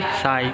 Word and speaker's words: psi: फिर इसका फिज़िकल वो त्रिशूल जैसा जो सिंबल है उसको साई बोलते हैं, और PSI साई, P साइलेंट है इसमें।